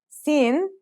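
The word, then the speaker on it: سين: Those are seen and shin. Let's start with seen. Seen sounds just like the English s.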